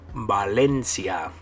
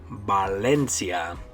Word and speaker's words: Valencia: Now the way you would say this place in Spanish is Valencia. Valencia. So balance, you say balance. And then this city in Spain, you would say Valencia.